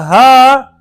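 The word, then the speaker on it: ه: The Ha is pronounced at the bottom part of the throat.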